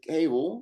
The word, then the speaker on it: Kewal: It's spelled with a W that sounds like a V. I always say that Kewal rhymes with navel, but now I get to say it's pronounced exactly like Henry Cavill's last name, but spelled totally differently.